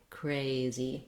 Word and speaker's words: crazy: speech so the word crazy has two syllables cray and z the stress is on the first syllable cray we see that marked in the dictionary with a little line before the first syllable what to watch out for and crazy is that the vowel a is a diphthong in american english so you don't want just one sound not cray but cray crazy so i rewrote that